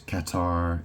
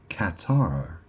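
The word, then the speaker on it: catarrh: It says relief from Qatar. And that is spelled C A T A R H. So, it's relief from Qatar, colds, and blocked sinuses.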